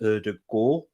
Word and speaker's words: Ødegaard: now let's go we'll start off with the ode guard news um i let that pronounce his name properly by the way it's actually in norwegian it's pronounced erdogan the double a um pronounces with two old